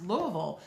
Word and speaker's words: Louisville: That is pronounced Louisville, but looks like Louisville when you look at it.